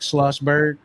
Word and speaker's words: Schlossberg: So with it, and even so this is, and I don't know how to say the last name. Is it Schlossberg? Yes. Okay. So this is Jack Schlossberg.